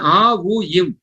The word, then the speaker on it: ஓம்: அப்ப அந்த ஓம்ங்கிற வார்த்தை ஒரு 3 எழுத்துக்களுடைய இணைப்பாக நம்ம பார்க்கிறோம். ஆ ஃபர்ஸ்ட் எழுத்து என்னங்க? ஆ. 2வது எழுத்து உ. 3வது எழுத்து இம். சரிதானுங்களா? அது ஏன் ஆ உ இம்?